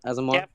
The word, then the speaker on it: Asmar: see um I'm a if I pronounce it right ASMR right that's how you say y Asmar all right so yeah